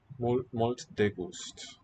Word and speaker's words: molt de gust: Molt de gust. Okay, yeah. Thinking a little bit too Latin here. Final syllables just dropped.